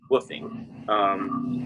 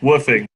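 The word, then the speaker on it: WWOOFing: all writing this down woofing it's called it's spelled w w oo f w w w w oo f ing or what I don't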